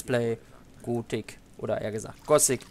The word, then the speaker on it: Gothic: ist ein deutscher Entwickler also müsste es normalerweise Gotik heißen und nicht gosic weil gosic wird ja englisch ausgesprochen aber ich hatte damit